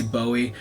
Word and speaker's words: Bowie: There Bowie buoy um believe it's actually pronounced buoy but a lot of people say Bowie uh it's like tomato